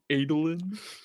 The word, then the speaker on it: Adolin: favorite stormlight character uh whether it was adeline or adeline it's adeline oh is it adolin we have different pronunciations